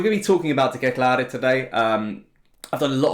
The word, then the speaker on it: De Ketelaere: It's even been so long I've learned how to pronounce his name. I can stop calling him CDK and can call him De Ketelaere.